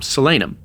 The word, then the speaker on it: Solanum: I have to first meet Solanum. Sorry, I said Salanum. Selenum, as we found out, her name is actually pronounced.